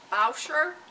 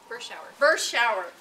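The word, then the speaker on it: Berschauer: At my left is Lindsay Bauscher. Bershauer.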